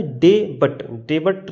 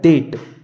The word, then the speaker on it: debt: जैसे ये हमने लिखा डेट, DEBT, क्या ये डे बट ना है, ये लिखा है डेट। क्योंकि टी से पहले अगर आपको कहीं पर भी बी दिखे तो हम बी का उच्चारण नहीं करेंगे।